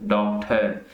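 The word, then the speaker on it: doctor: अगर बाद में आता है ओ आर आ जाए, ये तो ई आर थे लास्ट में, अगर ओ आर आए तो डॉक्टर, डॉक्टर, डॉक्टर, डॉक्टर। आवाज आर की जो साउंड है वो स्किप हो जाएगी, क्यों?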